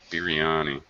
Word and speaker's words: biryani: Biryani. Biryani. Do I have the pronunciation correct?